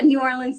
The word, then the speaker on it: New Orleans: in New Orleans correct yes yes am i pronouncing that right because I'm not from the South yeah New Orleans is fine yeah yeah no I'm from California